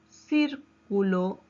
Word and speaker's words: círculo: En la palabra círculo, ¿cuántas sílabas tiene? Tiene 3 sílabas. Círculo. ¿Dónde lleva la mayor fuerza de voz? En cir.